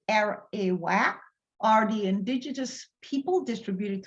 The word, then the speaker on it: Arawak: The Arawak, pronounced as Arawak, are the indigenous people distributed throughout the Caribbean islands and South America, including Guyana.